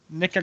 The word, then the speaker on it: Nikka: drinking its counterpart the nica coffee is what we're gonna oh it's not nickel n-i-c-k-l-e no it's it's nika no i could pronounce this bottle nikka coffee exactly and this